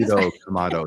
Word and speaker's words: Tanjiro Kamado: Tanjiro Kamado. Was I close? Tanjiro. Okay. Sorry, I can't do it. Tanjiro Kamado.